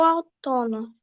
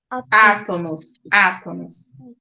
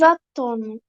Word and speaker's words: átonos: Monossílabos átonos. Não, Átonos. Ah, tem um acento no A, tá?